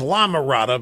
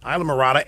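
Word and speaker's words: Islamorada: some of it down there I used to pronounce this is La Mirada before I was publicly humiliating ly corrected I even almost did just now but it's it's Isla Murata and it's it's Ralph's it's great to have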